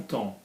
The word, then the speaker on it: temps: E, l'esprit de son temps. Okay, so that is the, and we don't pronounce the M, we don't pronounce the P and the S in temps, which bothers a lot of people.